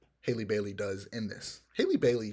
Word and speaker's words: Halle Bailey: time I see it, I say Halle Berry, and it's not Halle Berry. It's Haley Bailey. I hope that's how it's pronounced. It might be Holly, but Haley Bailey.